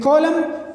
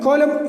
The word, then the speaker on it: column: silent here come okay and column column and column in is silent there n is on the final position and m comes before that so then in a certain column n is not uh pronounced there fine okay at three